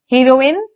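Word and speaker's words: heroin: दोनों का प्रोनाउंसिएशन भी आपने देखा होगा, मैंने अलग किया, हीरोइन, हेरोइन। तो ये दोनों के प्रोनाउंसिएशन में ही बात अलग आ जाती है।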